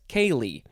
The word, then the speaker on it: ceili: can't even do it c-e-i-l-i that one makes more sense kaylee this is a noun from 1875.